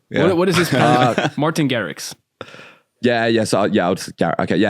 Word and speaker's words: Garrix: Your pronunciation is just a little bit different. It's Dutch, so yeah. What is this? Martin Garrix.